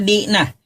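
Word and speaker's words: δεῖνα: Bahasa Yunaninya Dena. Dibacanya Dina.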